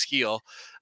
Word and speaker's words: Gil: Luis uh heel uh it looks like it's pronounced Gil but it's heel he he had a